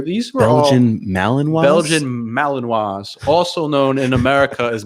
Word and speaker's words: Malinois: Belgian Malinois, also known in America as Malinois, but people don't know how to pronounce it.